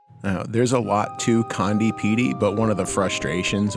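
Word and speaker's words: Conde Petie: Now I pronounce this place condi. How you pronounce it is up to you.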